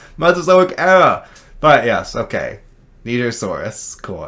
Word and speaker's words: Nigersaurus: 19, Nigersaurus. The Nigersaurus. Good thing you pronounced it correctly.